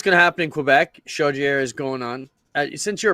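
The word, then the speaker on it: Chaudière: Shier. Autodrome Shodier. God, you must want if I got it right. Did I pronounce this right?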